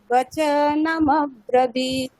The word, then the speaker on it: বচনমব্রবীত: মানে ওটা আলাদা করে উচ্চারণ করাটা ভুল বললাম না, ওটা আলাদা উচ্চারণ করা যাবে না। ওখানে আসলে শোনাবে কিরকম মব্রবীত। আচ্ছা, ঠিক আছে।